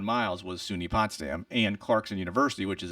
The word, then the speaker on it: Potsdam: That's how you pronounce it? Potsdam, yeah.